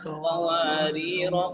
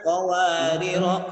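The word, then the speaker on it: قواريرا: Min fiddatin wa akwabin kanat qawarira qawarir. Jadi nggak panjang lagi. Kanat qawarira qawarir. Berarti ketika dia wasol dibaca panjang. Hanya kalau dia posisinya berhenti boleh dibaca panjang.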